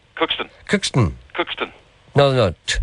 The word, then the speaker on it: Cookstown: Cookston. Cookston. Cookston. Cookston. No. Too much of a T. Cookston. Cookston. No, there's a bit of a D there.